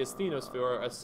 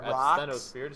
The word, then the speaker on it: asthenosphere: And what happens is they float on the next layer below, which is the asthenosphere or asthenosphere, depending on how you want to pronounce floating it.